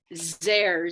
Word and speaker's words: Zehr: So how do you pronounce or spell his last name? Howard? Zehr, Z-E-H-R.